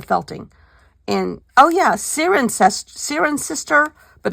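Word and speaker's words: Cirencester: we did the felting and oh yeah Sirin Sirin sister but it's not pronounced it's not written like that siren Chester is what it looks like but it's siren sister anyhow oh yeah here's my other stickers oh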